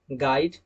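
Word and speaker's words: guide: यू आता है तब भी वहां पर यू साइलेंट होता है। Example गाइड, गेस्ट।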